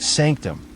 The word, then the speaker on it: SNCTM: obsession with privacy inter snctm pronounced sanctum the Eyes Wide Shut